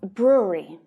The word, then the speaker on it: brewery: pitch rule rule now brewery brewery so the middle syllable here is really soft so if you're having